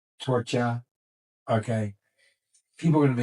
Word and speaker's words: Torchia: He goes, "You're so funny with that accent," and so that's where I go my Torchia instead of Torch. Gotcha. Because in Italian, he just pronounced K, Torch.